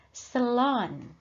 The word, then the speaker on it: salon: bahasa Inggris sama ya salon tapi membacanya selon the selon selon or Beauty Salon